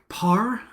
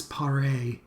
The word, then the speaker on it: Pare: 1971 case of Alice par I think that's how you pronounce it there's no accent so I don't think it's Alice paray um Alice Parr um so we're gonna talk